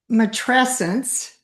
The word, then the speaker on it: matrescence: matrescence, not Matrescence. a matrescence. It kind of rhymes with adolescence.